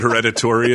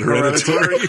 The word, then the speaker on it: hereditary: he what he say he said hereditary and then you said heritor uh uh stress has